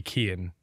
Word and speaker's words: Cian: The only thought that I ever had was to just be Cian. But even that people would still get wrong now that I realize. Because it's spelled C-I-A-N.